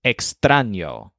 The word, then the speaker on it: extraño: is in my wall the word for strange is extraño with a stress on bran kind of like train sitting in one of